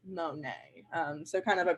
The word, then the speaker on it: Monet: like my mug it's a Monique and then at the end the guys like no and also it's pronounced Monet and so kind of